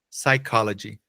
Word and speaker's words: psychology: no inglês é que no inglês não tem o p né não fica p é só o s psychology psychology e entender a